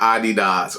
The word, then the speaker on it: Adidas: Adidas, not Adidas. I mean, we should say that as a joke, but Adidas, that's what it's always been, bruh.